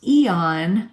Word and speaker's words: Aeon: It's pronounced Eon, but spelled Aeon. Many of our customers use X39 by day and Aeon by night.